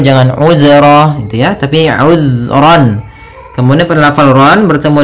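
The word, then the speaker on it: عذرا: Kemudian ayat selanjutnya uzron. Di sini uzron. Hati-hati dalam lafal zal. Usahakan ya. Usahakan di sini jangan sampai memantul. Jangan uzro gitu ya. Tapi uzron.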